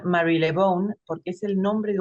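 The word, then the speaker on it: Marylebone: que dorotea Mary Mary lebone en realidad se pronuncia Mary lebone porque es el nombre de un barrio una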